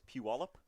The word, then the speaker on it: Puyallup: I I'm pretty sure it's Puyallup.